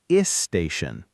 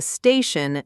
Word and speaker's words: station: So, school can accidentally become ischool, and station can become isstation. The fix here takes a bit of practice, but it's very doable. Start the word with just a puff of air on the S. No vowel sound before it at all.